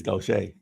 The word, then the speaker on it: Gautier: see okay have I been to this place go Shea it's Goshay and what did I say uh go to